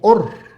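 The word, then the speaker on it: אור: Es curioso, pero luz en hebreo se pronuncia or, ¿verdad? se escribe un poquito diferente. La letra primera es la alef, ¿verdad? Este y en la otra es la aim. Pero son por lo demás son son casi idénticas, pero y se pronuncian igual.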